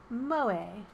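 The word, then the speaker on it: 萌え: who possess such traits pronounced moe a the system the system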